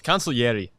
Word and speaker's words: consigliere: It's consigliere.